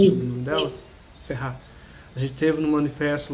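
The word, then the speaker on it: Ferrer: Pronuncia o sobrenome dela? Isso. Ferrar.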